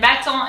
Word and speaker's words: battant: And then battant is easier. B-A, bat, double T, bat. En in French, A-N is en, battant, and then the last T is silent.